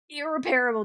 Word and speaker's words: irreparable: doing The irre irreparable damage. Irreparable damage. That's how you pronounce it.